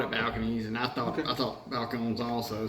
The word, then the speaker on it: Balcones: And then second up, we got Balconies. And I'm not even sure if I'm pronouncing that right. That's how it looks like it's spelled. Balcone, maybe Balcone. Balcones, that's what I would say.